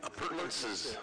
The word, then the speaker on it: appurtenances: Appurtenances.